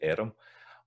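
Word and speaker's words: airm: So we've got erm in Scots, we're erm here. Arm in English. So erm, that's one of the ones that's kind of two syllables, erm.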